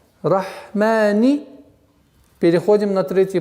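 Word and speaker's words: الرحمن: Рахмани. Ударение два счета. Рахмани. Рахмани.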